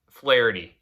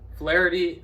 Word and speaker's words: Flaherty: Flaherty. You said his name wrong. Flaherty out of the bullpen, you don't hit him.